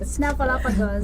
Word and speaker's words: Snuffleupagus: Snuffleupagus. Did I say it right? Snuffleupagus.